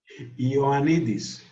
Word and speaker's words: Ioannidis: Yeah, could you pronounce it again, sorry? Ioannidis. Ioannidis, okay.